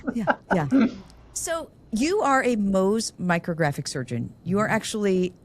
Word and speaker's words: Mohs: Yeah, I'd be happy to tell you how to spell it. It's Mohs.